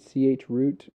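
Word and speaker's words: chroot: gonna troot troot troot i always pronounce it ch root it stands for change root i don't know how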